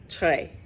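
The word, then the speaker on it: Très: it trey satik because in french t-r-e-s is tray i i actually remember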